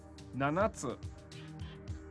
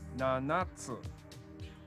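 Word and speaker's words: ななつ: Nanatsu. Nanatsu. Sounds like nuts.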